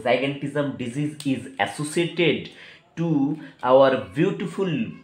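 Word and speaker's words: gigantism: जाइगेंटिज्म ऐसे भी कोई कोई लोग प्रोनाउंस करते हैं, या कोई लोग गिगेंटिज्म ऐसे भी प्रोनाउंस करते हैं, तो जाइगेंटिज्म बोलना मोस्ट सुइटेबल रहेगा, क्योंकि जाइंट, जाइगेंटिज्म कहाँ से आया, जाइंट, जाइंट से आया।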